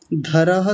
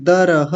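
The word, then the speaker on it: वृकोदरः: इस अंतिम शब्द को फिर से बोलिए वृकोधरह धरह थोड़ी है दरह आप ध बोल रहे हैं ठीक है हां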